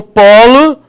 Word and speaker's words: polo: claro isso tranquilo então polo polo polo agora não tem mais acento mas ele não vai ser pronunciado com o pólo que é filhote de gavião beleza se vai pronunciar com o timbre aberto como se tivesse um acento agudo beleza maravilha ea pêra